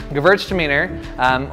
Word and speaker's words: Gewürztraminer: So Gewürztraminer, or the way I pronounce it at least, I've been corrected as pronouncing it Gewürztraminer.